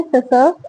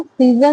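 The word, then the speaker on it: scissors: माई सेसर्स आर ऑन the table. Saser सीजर नहीं होता, seizures होता है, सेसर्स बोलते हैं इसको, जनरली प्रोनाउंसिएशन इसका सेसर्स ही होता है।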